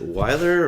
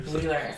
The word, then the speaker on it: Wheeler: But when I wasn't sure, like is it Weiler or Wheeler? Wheeler.